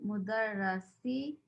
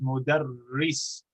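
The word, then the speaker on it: مدرّس: Ismul mudarrasi sayyidun wasmul muhandisi khalidun. MashaAllah, fantastic. What is my only correction on your pronunciation is mudarris.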